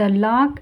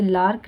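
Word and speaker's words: lark: द लाक एंड her young. ठीक है? लॉक यानी किसी तरह का मीनिंग नहीं है। एक बर्ड का नाम है। इसे लार्क नहीं बोलेंगे। और यहां साइलेंट है।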